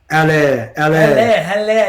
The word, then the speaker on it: Haller: I went and transferred in Howler. No, it's not even. Wait, how do you pronounce his name? Haller. Yeah, I got a bit of stick on Twitter for pronouncing his name incorrectly. We're saying Hauler.